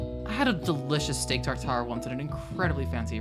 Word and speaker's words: tartare: I had a delicious steak tartare once at an incredibly fancy restaurant.